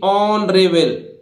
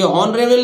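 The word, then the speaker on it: honourable: इसी तरह देखिए एच के बाद फिर ओ आ रहा है तो एच का उच्चारण यहां भी नहीं होगा, तो देखिए ऑनरेबल, ऑनरेबल, ऑनरेबल आदरणीय, सम्माननीय, ठीक है।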